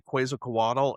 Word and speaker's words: Quetzalcoatl: So she could be talking about the history of themselves when we see the Quetzalcoatl in Aztec.